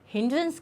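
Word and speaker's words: hindrance: सो हिंड्रेंस जो है इसका प्रोनाउंसिएशन कैसा हो जाएगा? इट्स हिंडरंस। Okay, this is the pronunciation, हिंड्रेंस।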